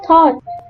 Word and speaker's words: thought: For example, letter B in bomb, letter C in scissors, G in design, and GH in thought.